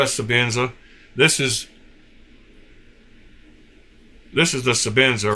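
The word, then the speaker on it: Sebenza: I know it's a Sabenza, and it's spelled with an E.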